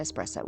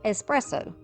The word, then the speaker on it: espresso: viewers who told me that is pronounced espresso my whole life as country as I am we have said espresso that is incorrect so if it bothered